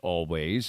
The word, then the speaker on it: Alvvays: good show it's always it's spelled with two v's but uh it's pronounced always and and maybe next